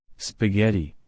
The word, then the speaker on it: spaghetti: o l did you Circle H number 10 spaghetti spaghetti s p a g h e t